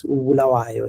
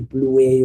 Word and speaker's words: Bulawayo: And one of the things that we're always criticized with is that Alice does not sound local, because it can't pronounce Ubulawayo, it will say Bluey, or it can say Lupane, it will say Lupain, and all those things like that.